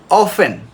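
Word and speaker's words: often: mass অফেন obtain না আমরা অফটেন বলবো না অফেন বাচার বাচার নেক্স সাইলেন্ট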